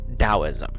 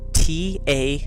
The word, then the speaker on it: Taoism: that drives me nuts it is spelled t-a-o-i-s-m Taoism but it's said with the hard D sound so it's almost like a DT and when you look it up phonetically that's how it's said uh there are people